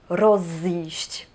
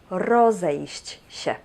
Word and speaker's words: rozejść: In those cases we have an additiona "e", because it would be hard to pronounce "rozjść". That's why we added the"e" and we have "rozejść".